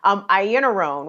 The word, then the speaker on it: Iannarone: And I'm so sorry to keep blanking on her name because I can see it in my head one way, but it's pronounced like a whole nother different way. Iannarone.